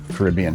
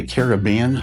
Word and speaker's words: Caribbean: what do you say do you say Caribbean or Caribbean what is the right pronunciation of that I always most of the time I say Caribbean and I think both ways are actually okay to say so if I say